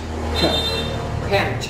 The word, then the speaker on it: quench: Đó, thì chúng ta đọc là E là E, giống chữ E là E là N, và chúng ta đọc là gì ạ? Quench.